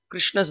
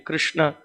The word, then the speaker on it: Krishna: mentions the point that for chanting Krishna, the tongue should be used, and then for Rama, the upper and lower lip should be used, right? So we should use the tongue and the lips properly.